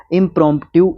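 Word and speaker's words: impromptu: उसको इप्रोम टिव कहेंगे स्पेलिंग ध्यान से देख लें इसका इंप्रॉन्प्टू इसको बोलते हैं यह एक एडजेक्टिव वर्ड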